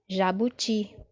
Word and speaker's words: jabuti: Jabuti. Jabuti. Perceba agora que a sílaba forte está na última posição, não é isso?